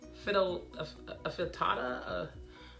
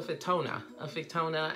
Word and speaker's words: Fittonia: But this is actually an annual trailing plant of some sort, a fittata, how do you pronounce that? I didn't catch it. it's a fittona, and I actually had